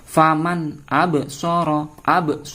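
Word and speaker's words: فمن أبصر: Faman absara. Fokusnya di sini teman-teman. Bacaan qalqalah. Kenapa? Ada ba berharokat sukun.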